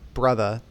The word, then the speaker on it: Brutha: I think we agreed to pronounce it as Brutha because saying brother is going to get really annoying in an audio format really fast. Yeah, like I'm way too white to the way that wants to be pronounced.